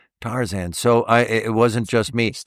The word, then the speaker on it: Tarzan: So Tarzan as opposed to Tarzan. But I say Tarzan.